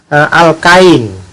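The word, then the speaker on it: alkyne: Lalu yang alkuna itu bahasa Inggrisnya alkain. Nah, beda dengan ini. Karena ini alkene, ini adalah alkain.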